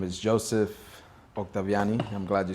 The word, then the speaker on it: Octaviani: have another interview with none other than Joseph octaviani from Life the plant way want you let me get you to introduce yourself my name is Joseph octaviani I'm glad you said it right um I